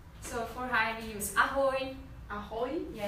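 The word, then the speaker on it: ahoj: So for hi we use ahoy.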